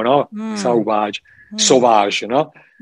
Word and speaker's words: Sauvage: Anche se era sbagliato, perché in francese dovessi metterci la U, Sauvage, come il profumo, no? Sauvage.